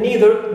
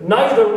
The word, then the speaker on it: neither: you can say either neither nor or neither nor, neither nor or neither nor. Clear? One British and the other American, but for us both are correct pronunciations.